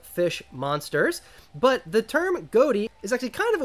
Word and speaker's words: Ghoti: a bit of a pun you see the goatee archetype is actually supposed to be pronounced fish this is an archetype composed exclusively of fish monsters but the term goatee is actually kind of a way of poking